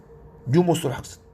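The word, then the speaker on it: pneumothorax: 자, 그리고 뉴모소락스 드디어 나왔네요. 뉴모 앞에 P자는 다 묵음이에요, 여러분이. 뉴모라고 있습니다. 푸뉴모가 아니고 뉴모. 뉴모소락스.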